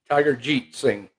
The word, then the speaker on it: Tiger Jeet Singh: Richard Hood, Tiger Jet Singh. Is that how you say it? Tiger Jeet Singh.